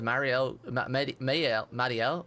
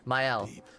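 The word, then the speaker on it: Maelle: And one thing I've picked up on is Marielle, Mael, I keep saying I can never say her name right. Mael.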